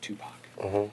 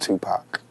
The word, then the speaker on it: Tupac: pronounce your name tupac tupac remember like two like two and poc like pocket you won't go wrong just tupac what's your best christmas